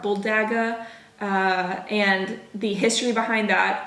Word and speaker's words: bulldagger: Well, I don't think you pronounce the R, bulldagger, and the history behind that.